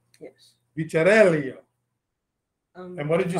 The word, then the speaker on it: Vicarello: We were going back and forth with the Italian pronunciation here. Vicarello. Yes. Vicarello.